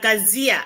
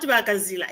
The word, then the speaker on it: Kazia: Kazia, but it's not Bakazila, it's Kazia. I asked.